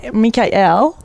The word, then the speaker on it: Mikael: really tell us exactly m mik l like a kite or like Kai as in you know the Hawaiian word for ocean beautiful yeah so you